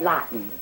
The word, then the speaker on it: Lawton: my fiancee fred fred lawton it rhymes with rotten i told you to